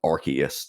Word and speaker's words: Arceus: Originally, the original pronunciation was Arceus, but they changed it because of in the UK the word arse. They didn't want it to have that same sound in there, so they